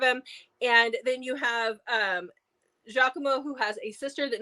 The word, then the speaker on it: Giacomo: And the way his name is spelled, I know it's Giacomo, but I always want to call him Giacomo.